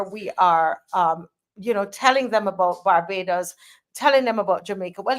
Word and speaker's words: Barbados: So they Badabos. Say Barbados. Come on, say Barbados. Barbados. Yes, Barbados.